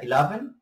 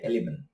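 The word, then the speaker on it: eleven: বিস্তারিত ভাবে ওই পর্বে, এটা ইলেভেন, আবার অনেকে বলে এলিভেন, কিন্তু এলিভেন না, ওকে, তবে মোস্ট পিপল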